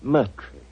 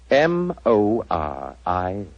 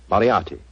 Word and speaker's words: Moriarty: Dear me, I have so much trouble with my name. People will either misspell it or mispronounce it. I'm afraid I'll have to begin calling it the way it looks.